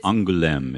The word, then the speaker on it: Angoulême: Oh, it's Angoulême is how it's pronounced.